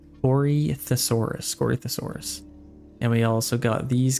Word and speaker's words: Corythosaurus: Okay, we have our Corinthiasaurus, or how do you say that? Corythosaurus.